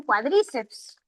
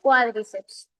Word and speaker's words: cuádriceps: A veces los estudiantes pronuncian cuadríceeps. La pronunciación es cuádriceps.